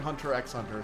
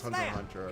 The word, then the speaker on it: Hunter x Hunter: Also the X is silent. Sorry, Hunter Hunter. Sorry, I'm used to saying Hunter x Hunter, so even though I know it is Hunter Hunter.